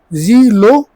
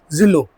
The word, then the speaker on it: Zilo: पढ़ाई है ना तो मैं इसको दो तरीके से पढ़ सकता हूं जी लो जेड आई जीलो अभी आपने भी जीलो बोला दूसरी इसकी स्पेलिंग जो मुझे लगती है बाकी आप लोग कमेंट में बताइएगा किस तरीके से इसको पढ़ सकते हैं या तो इसको जिलो बोलेंगे तो मैंने जिलो ही बोला था बाकी अपनी लैंग्वेज